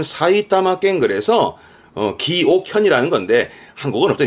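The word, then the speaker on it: 埼玉県: 발음은 사이타마켄.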